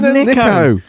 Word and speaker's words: Nicko: No, it's Nico. But it's spelled Nicko. Yeah, but that's Nick O. Nico. Oh yeah. I didn't think of it like that. I didn't subdivide the word up into 2 syllables.